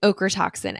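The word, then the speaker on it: ochratoxin: o toxin a o okra toxin a it's like okra it's weird um you're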